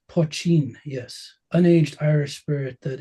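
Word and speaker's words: poitín: so the Irish word I think it's pronounced poin maybe poin yeah uh translates to small pot and refers to a traditional Irish distilled spirit it's pronounced poin yes unaged Irish spirit that is the precursor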